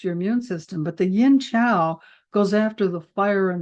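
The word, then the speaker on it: Yin Qiao: Now, the formula that goes with Ganmaling sometimes is yin chow, and it can be spelled QIAO or CHIAO. Sometimes chi is spelled QI, and sometimes chi is CHI, but it's yin chow.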